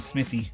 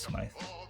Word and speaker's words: Smythe: I'm gonna call him Smithy. I think it's Smythe though, right? It's Smythe. Someone needs to correct me down there. The correct pronunciation.